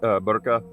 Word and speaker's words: burqa: burqa or a hijab, is that how you pronounce it? Yeah, hijab, burqa.